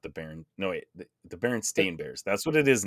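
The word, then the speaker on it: Berenstain: being pronounced like here's the correct way to pronounce it I don't know man could be but I swear I read the baron Steen bears as a kid instead of the baron stain bears but guess that's not the case but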